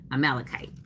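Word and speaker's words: Amalekites: A dash I'm spelling it fanatic. Phonetic phonetically. A- m a l e d- k i tes. Anybody still like kites? You know, fly the kite, take a kite.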